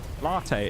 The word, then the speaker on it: Latte: Uh, I'm going to say Latte Dur. It could be Latad or something. I'm not sure what the pronunciation of your name is, but thank you very much for the follow. I appreciate it. Welcome to stream. Please correct me on your pronunciation of your name if I got it wrong, cuz I'm sure I did. Latte. It is Latte.